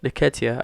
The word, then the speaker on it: Nketiah: How do you pronounce his last name? Nketiah.